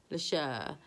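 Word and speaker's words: Leshurr: If you don't know, Leisha, I don't know. It's spelled Leeshurr, like Lady Leisha.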